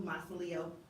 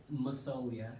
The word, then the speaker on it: Masoglia: But I was pronouncing it Masoglia because of the spelling. So I was using that kind of an English pronunciation, and I'm assuming, are you from America?